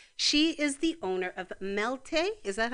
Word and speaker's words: Melté: But at this point in her path, she is the owner of Melté. Is that how you pronounce it? Melté.